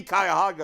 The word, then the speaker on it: Cuyahoga: on me well I'm already locked in on Cuyahoga it may be Cuyahoga is the correct pronunciation but I'm locked in how did I